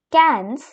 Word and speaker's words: quinze: Now comes 15, which is pronounced as quinze.